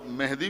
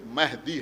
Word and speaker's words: مہدی: بر محمد وآل محمد۔ اور مہدی بھی نہیں ہے بلکہ مہدی ہے، صحیح لفظ جو ہے وہ ہے مہدی۔ تو اس سے آسان